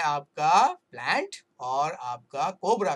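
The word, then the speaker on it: Plantae: लेकिन ये लैटिन में कन्वर्ट करना है दोस्तों, लैटिन में, तो लैटिन में प्लांट लिखते हैं प्लांट, प्लांट हाँ, उसको प्लांट प्रोनाउंस करते हैं, प्लांट आई नहीं बोलना.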